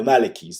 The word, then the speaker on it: Maliki: how do you say it no malikis the malikis there you go the malikis those are the